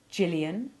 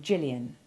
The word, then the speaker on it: Gillian: Gillian, Jill, Jill, gin, engine, ginger. Gypsy, giraffe, gist, origin, agitate. Note that the girl's name Gillian and its abbreviation Jill have the soft G, as does the